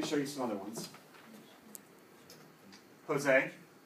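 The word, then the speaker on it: José: His name starts with a J, right? Which, what's the J sound in English? Ja, right? Ja. But in Spanish, this is said like an H. So here, we write the letter of the sound, which is ha. H-O, and then this S sounds like a Z. Jose.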